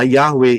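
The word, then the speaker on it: Yahweh: namanya saudara bisa lihat manggil itu jelas yod he waw he nulisnya dan pang ee ee pelafalannya adalah Yahwe itu namanya memanggil serukan bersyukurlah naikkan puji-pujian bersyukur kepada siapa Yahwe.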